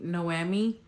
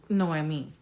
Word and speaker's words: Noemi: She keeps saying Noemi, and it's Noemi.